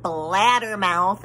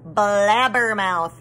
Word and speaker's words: blabbermouth: at that dumb comment it's not blattermouth it's blabbermouth may i said blabbermouth is spelled with bees not d's mr scary stood up